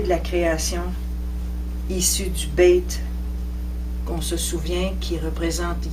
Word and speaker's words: Beit: Le Beit se prononce B, comme en français, c'est le son B.